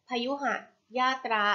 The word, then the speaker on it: พยุหยาตรา: คำ ว่า พยุหยาตรา ค่ะ พยุหยาตรา อ่าน ว่า พยุ หา ยาก รา พยุหยาตรา มี กี่ พยางค์